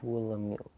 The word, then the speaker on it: Buolamwini: Sure, you pronounce Dr. Joy Buolamwini as Buolamwini. Buolamwini.